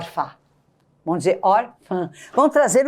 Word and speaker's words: órfã: confirmou o acento tônico acontece que se eu deixar essa palavra redigida desta maneira ao falar eu terei que dizer Ufa A menina é órfã Coitadinha mas eu quero transmitir para esta sílaba um som nasal eu quero que o som também saia pelas narinas para eu conseguir isso olha o que eu vou fazer bom então vocês vão dizer Órfã não vamos ver o sofá